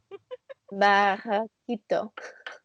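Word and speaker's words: barraquito: Barakito.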